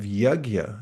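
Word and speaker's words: yajña: Um another comes in the third chapter of the Bhagavad Gita and Krishna introduces this idea of yagya. That's spelled y a j n with a little squiggle over it.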